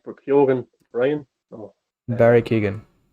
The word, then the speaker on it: Keoghan: It's Kyogan actually. I think a lot of people are pronouncing it wrong. Maybe Oh, okay. I'm Irish. I think it's I've Kyogan. heard people say just Barry Keegan, Have but Americans been